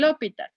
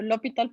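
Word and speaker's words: L'Hôpital: Cuando voy a aplicar, en realidad debería pronunciar hospital, pero yo digo L'Hopital porque así me aprendí y si no digo así me torzo.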